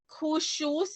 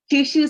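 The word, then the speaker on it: Kyushu: but i think it's kushu sangyo university in fukuo yo perfector i might have it wrong kishu sangyo university and it's fukuoka prefecture very close not bad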